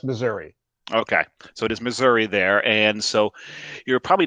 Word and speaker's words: Missouri: Yeah, well, actually, Missouri really, it's only folks up north that really pronounce that A. I am in southwest Missouri. Okay, so it is Missouri there, and so you're